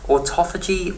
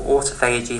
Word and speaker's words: autophagy: talk about autophagy okay autophagy or autophagy however you want to pronounce it literally means self